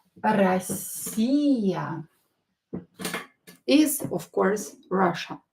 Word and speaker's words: Россия: Again, O, not stressed, pronounce it as A.